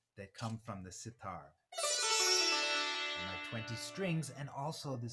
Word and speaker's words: sitar: you might notice that sitar kind of rhymes with guitar right that's because tar